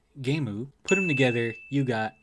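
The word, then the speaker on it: ゲーム: or damn kuso and the japanese pronunciation of game gemu put them together you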